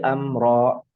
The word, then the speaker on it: أمرا: Nah, maka dibacanya tidak boleh panjang seperti ayat 5 fal mudabbirati amro. Ro nggak panjang begitu. Fal mudabbirati amro.